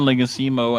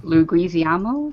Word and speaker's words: Leguizamo: But I like John Leguizamo as like a Wait. young version of him. Luguizamo, I think it's pronounced, but he's also like Leguizamo.